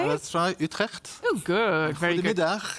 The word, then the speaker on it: Utrecht: We are in the city of Utrecht, which is hard to pronounce when you're not Dutch. Can you say it? Let's try Utrecht.